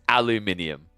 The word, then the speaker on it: aluminium: can't defend that there's there's no logic in the way that you pronounce aluminium it is aluminium it's literally how it's got minium in it like bro how